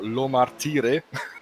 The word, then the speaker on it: Lo Martire: together um well uh the pronouncing is uh fabio lo martire i was close then